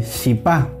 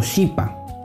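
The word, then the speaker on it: chipá: En el Paraguay y en Formosa se va a pronunciar como SH, como la SH del inglés.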